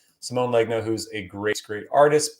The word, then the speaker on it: Simone Legno: collect these things and that's all through samoa simone legno that's how you say his name simone legno who's a great great artist but again kind